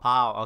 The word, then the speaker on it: bao: I am really hungry, and I ate all the bao in my house. So Or the what? All the what? Bao, BAO. It's like BAO? steamed pork buns. Oh, pow. Okay. All right. It's spelled with a B, right?